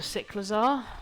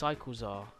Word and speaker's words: Cyclizar: It's Cyclizar. Nah, I prefer Cyclizar. Cyclizar sounds dumb. I know it's more like cycle, but I don't care.